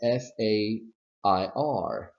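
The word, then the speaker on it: fare: ir fair and fair in pronunciation there is no difference please please do not create a difference in pronunciation that does not exist so you would say fair and fair the only differences are in spelling and meaning okay not in pronunciation and if I have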